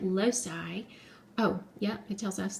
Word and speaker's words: loci: Latin word for location the plural of locus is I think you actually say it loci oh yeah it tells